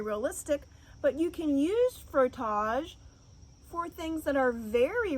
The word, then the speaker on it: frottage: It's called frottage. That's how you say it, frottage.